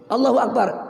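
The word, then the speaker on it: الله أكبر: Allahu Akbar. Ini minimal 2 harkat. Allahu Akbar. Yang pendek boleh, panjang nggak boleh.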